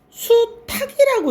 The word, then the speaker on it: 수탉: 분명히 남자 숫자가 붙었는데 수탉이라고 읽죠. 왜 그러냐면 희응 종성 체언으로 수 뒤에 뭐가 붙어 있냐면 희응이 붙어 있던 거야. 명사기 때문에 희응 종성 체언 뒤에 희응이 있었는데 오늘날에는 이 희응이 어떻게 됐을까? 없어졌지.